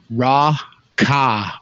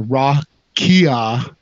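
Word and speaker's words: רקיע: And right here, as you can see, I have the Strong's H7549, which is properly in the phonetics pronounced Ra-Ka or Ra-Kia in the new Hebrew with the phonetics added.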